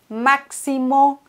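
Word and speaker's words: Máximo: Zum Beispiel bei Maximo, da spricht man das X ganz normal als X aus.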